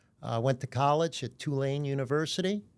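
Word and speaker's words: Tulane: Uh, went to college at Twolane University. Got to say it correctly. Two lane.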